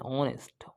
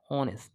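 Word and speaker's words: honest: পূর্বে এন বসে ঠিক আছে বসে নাই এন অনেস্ট অনেস্ট ঠিক আছে এটা হচ্ছে এইচ এর উচ্চারণ হয় না যার কারণে কি হইছে এখানে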